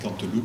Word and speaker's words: Canteloup: dans le quartier de Canteloup. Pour ceux qui sont originaires du quartier, je dirais Canteloup, voilà, puisque vous savez qu'on prononce le P, on dit Canteloup, le barbute, et puis